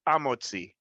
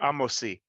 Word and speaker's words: Hamotzi: So the Sephardim, specifically Ladino speaking, when it comes to the He Hayediyah before Hamotzi, they would never pronounce the He. It would be Amotzi or Amosi.